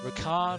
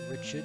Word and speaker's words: Ricard: But regardless, Ricard has joined us, and I am going to pronounce it Ricard and not Richard, because that is exactly what his name is.